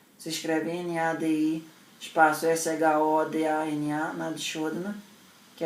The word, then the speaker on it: Nadi Shodhana: Em termos de Nadi Shodhana, o vídeo que eu mando na ficha Ayurveda, que é a respiração alternada, tem um vídeo meu sobre isso. Se escreve N-A-D-I, espaço S-H-O-D-A-N-A, Nadi Shodhana, que é a respiração alternada.